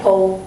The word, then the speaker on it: pole: It looks like pole, but we pronounce it kind of Pole.